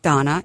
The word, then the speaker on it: Dana: we are from Project Donna. It's spelled D A N A, but it's pronounced Donna like the girl's name. Not Dana, but Donna.